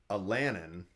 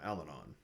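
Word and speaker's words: Allanon: I called him Alanin, and Terry calls him Alanon.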